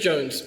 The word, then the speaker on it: Jonze: It's just Jones. Jones. Oh, I can't pronounce it.